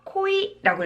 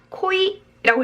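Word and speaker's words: 濃い: 코이라고 읽으셔야 돼요. 다시 한번, 코이라고 읽습니다.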